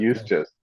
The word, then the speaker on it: Eustace: Eustace. Eustace, right? Almost Eustace. useless. Yeah, it rhymes with useless.